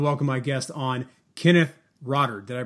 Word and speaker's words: Rotter: I want to welcome my guest on Kenneth rodder did I pronounce that that correct you did you did